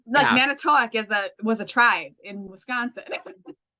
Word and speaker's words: Manitowoc: Like people are always like Manitowoc. And I'm like, no, it's Manitowoc.